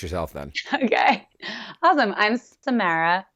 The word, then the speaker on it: Samara: And my first name is Samara.